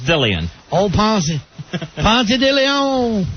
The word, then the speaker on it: DeLeon: But there it's pronounced Dillion.